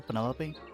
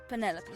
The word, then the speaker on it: Penelope: is that short for Penelope officially yes but I never can be bothered with all four syllables of it Penelope sounds a little ostentatious